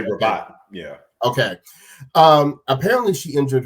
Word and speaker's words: Rabat: Apparently, and Isaac, how do you pronounce that tournament's name? The Rabat. I just say Rabat.